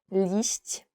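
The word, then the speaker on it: liść: today is I guess it's very difficult to pronounce least and it means Leaf when you go and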